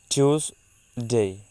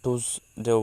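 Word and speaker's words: Tuesday: সেটার শুদ্ধ উচ্চারণ হচ্ছে টিউসডে, টিউসডে, বা আমরা টুসডেও বলতে পারি, টিউসডে বা টুসডে।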